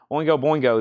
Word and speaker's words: Oingo Boingo: Oingo Boingo is at 150. I'm going to start just saying Boingo. Too many syllables there.